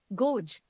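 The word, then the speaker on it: gauge: photo the next word is यू मे be pronounce it गोज what it actually is गेज गेज the next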